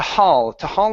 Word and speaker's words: haul: All right, here, this is an ah sound as well instead of ho. This is ha. To haul himself to his feet.